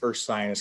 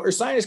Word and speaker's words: Ursinus: we get asked a lot of how to pronounce the name so there it is right there once again that is earth science college so earth science college is located about 25 miles from philadelphia